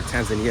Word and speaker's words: Tanzania: Serengeti, which is in Tanzania, or Tanzania as everybody knows it. Just the locals pronounce it Tanzania.